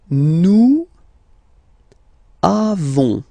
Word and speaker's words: avons: Then nous avons. Final S not pronounced. Avons.